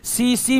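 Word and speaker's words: tsetse: दूसरा पोषक जो है सीसी मक्खी है दोस्तों सीसी मक्खी है अंग्रेजी में इसके लिखते हैं इस तरह से अंग्रेजी में इसका टी जो है साइलेंट हो जाता है टी क्या हो जाता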